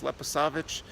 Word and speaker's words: Leposavić: I always botch the pronunciation of that. I believe it's Leposavić, and Zvečan, and here, Zubin Potok.